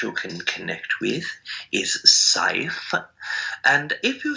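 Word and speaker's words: Seif: The entity's name that you can connect with is Saif, and if you spell that in English words, Aridif says that it is shared S-E-I-F, Saif.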